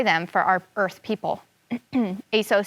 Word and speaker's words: Aso: his wife okay it's a-s-o i want to make sure i pronounce that name correctly so i'm going to go back to the glossary and it says oh i pronounce it aso aso is a nancy's